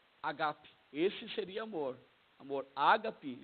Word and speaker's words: agape: Só que, na verdade, a aspiração maior fica no segundo A, fica um agape. Agape.